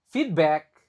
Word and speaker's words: feedback: Needed, dibaca I, needed, feedback, nah lagi dibaca I, on pronunciation.